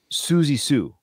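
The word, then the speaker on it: Siouxsie Sioux: this is I love it her name is Suzy Su but it's spelled just like that su su yeah but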